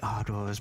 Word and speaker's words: Ardors: She'll like put a hand to her mouth and giggle at your mispronunciation. She says, "Oh, it's Lady Ardors, but it's very fine of you to offer me this."